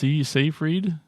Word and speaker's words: Seyfried: It was on Netflix, and it has Amanda Seyfried. Is that how you say it? Yeah. Seyfried.